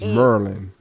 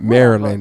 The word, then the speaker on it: Maryland: County Prince George County you said it wrong it's meryland not Maryland it's meryland okay because because education taught me that's the way to say it's Maryland don't do this to